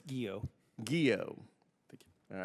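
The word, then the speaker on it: Guillot: Southern command General Gregory gillo how do you pronounce that chairman it's guo guo thank you all right General General Gregory guo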